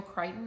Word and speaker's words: Crichton: and i also got another one by michael crichton i think is how you say his last